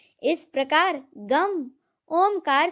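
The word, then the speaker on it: गं: गण के प्रथम शब्दांश ग का उच्चारण करने के बाद वर्णों के आदि अर्थात अ उच्चारण करें। उसके बाद अनुस्वार अर्थात म का उच्चारण करें। इसके बाद इसे अर्ध चंद्र से सुशोभित करें।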